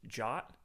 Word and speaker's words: JWT: to talk about what is a JWT pronounced jot we're going to talk